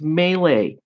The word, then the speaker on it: melee: Stop saying melee attack. It's melee. Every accepted pronunciation of the word is melee.